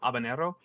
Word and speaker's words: habanero: By the way, Kim, the H is silent in Spanish.